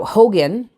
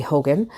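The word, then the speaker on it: Haugen: name H Aug en so it's not pronounced Hogan technically but that is the the pronunciation that the name has has ended up with um it is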